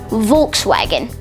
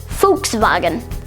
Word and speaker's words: Volkswagen: The way that most people would pronounce it is Volkswagen. However, the official German pronunciation is actually Volkswagen.